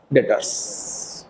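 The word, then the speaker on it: debtors: क्या नाम होगा इसका डेटर्स क्लियर है पक्का भी साइलेंट रहते है बेटा इसमें डेटर्स बोलते हैं बताओ किसी को कोई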